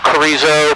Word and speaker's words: Carrizo: Yeah, the Carrizo Plains. And right now they have just this super bloom going on with all the plants. So we're going to actually fly around the mountain to Carrizo Plains to see the super bloom, and then